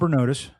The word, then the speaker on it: Bernotas: Today's guest is Bernotus. did I pronounce that right?